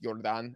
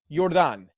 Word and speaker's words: Jordan: Jordan Osorio, I think it's pronounced Jordan, actually.